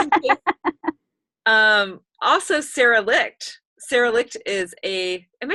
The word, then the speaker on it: Sara Licht: Sara Licht is am I saying your name? Yeah, I am. Yeah. Rhymes with, Sara is also a bars facilitator, and